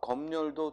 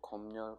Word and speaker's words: 검열: 따라서 3년 되고 또 밑에는 36이고, 자, 검열도 두 가지가 모두 되죠. 검열, 검열 두 가지 발음이 모두 됩니다.